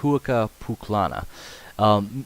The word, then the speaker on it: Huaca Pucllana: Huaca Pucllana. Ah, Huaca Pucllana. Pucllana. Pucllana. Huaca Pucllana. It's in Miraflores. We're close enough. Yeah. It is actually pronounced Huaca Pucllana.